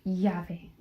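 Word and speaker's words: llave: Y is pronounced yave.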